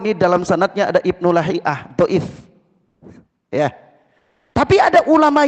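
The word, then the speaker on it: لهيعة: tentang Ana beri contoh Ibnu lahiah lahiah atau luhaiah sudah ya sudah ada dua cara baca ya baca yang Makruf itu lahiah kalau kita melihat biografinya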